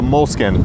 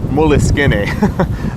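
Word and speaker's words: Moleskine: choice that I have is actually called a moleskin or that's what people call it it's actually pronounced Willis skinny so you can say that and have people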